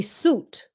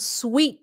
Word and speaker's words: suite: You know how to say suit. Okay, suit. Thì khi mà mình nhìn vậy đó, nhiều người muốn nói là su. They don't know how to pronounce it. It's pronounced sweet.